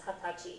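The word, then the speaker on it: 二十歳: It's just pronounced as hatachi.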